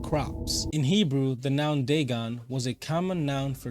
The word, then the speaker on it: Dagon: fish God huh theone oh it's Deon damn I said I was saying around this whole time damn oh well I'm not going back and editing all that I'm good but now I'll say it right Deon was the main